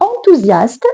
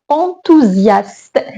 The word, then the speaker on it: enthousiaste: عندنا هنا واحد اس entre deux voyelles. ما كتعرفوا اس إلا كانت entre deux voyelles راه كتنطق ز. هذه هنا voyelle يعني enthousiaste. هنا اس entre une consonne et une voyelle donc غادي هذه تولي غادي نطقوها اس وغادي نطقوها زد. Je suis enthousiaste.